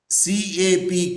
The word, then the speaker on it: CAP: waste the time awesome cap is pronounced as a one word c a p cap is pronounced as